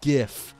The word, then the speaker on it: GIF: images on the screen is GIF with the hard G not GIF I don't give a rat's ass that the author said GIF you can he can he named it Graphics interchange format GIF that doesn't mean the author is right the way normal English speaking is used is to do GIF with a hard G like the word gift all right just because